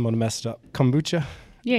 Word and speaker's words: kombucha: And so part of what I think, now I'm going to mess it up, kombucha. Yeah, kombucha.